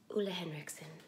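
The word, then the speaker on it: Ole Henriksen: Not to be confused with Olehenriksen. It's Olehenriksen. I know a lot of people get the name wrong.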